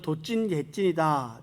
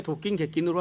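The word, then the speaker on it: 도긴개긴: 어떤 분은 도찐 객찐이다 이렇게 말씀하시기도 하는데, 이 도찐 객찐이라는 말은 사투리고 도낀 객낀이라는 말이 표준어라고 이렇게 합니다. 제가 발음은 이렇게 도낀 객낀으로 하지만 도긴 객긴 이렇게 쓰더라고요.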